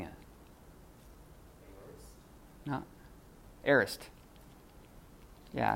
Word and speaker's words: aorist: Who wants to try number 4, pronouncing it? No, aorist.